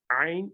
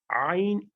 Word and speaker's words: ع: Don't give a jerk on Ain. That's the basic point to remember. It's not like Hamza where you give a jerk, like we said, yes, alu. Not like that. But it's a lengthened letter. Okay, you have to give it length and you have to pronounce it softly.